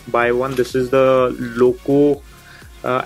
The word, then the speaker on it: Lauco: officially you can buy one this is the Loco uh l a u c o that's how it is spelled the car mount and it is a